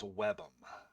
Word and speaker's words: WBEM: a folder called wbem and so pronounce webum wbem right here so